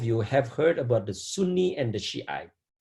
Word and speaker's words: Sunni: Maybe some of you have heard about the Sunni and the Shiite, right? Sunni, S-U-N-N-I, Sunni, and Shiite, S-H-I-A, different pronunciation, different spellings, but Sunni and the Shiite, they are different, but they are also similar, okay?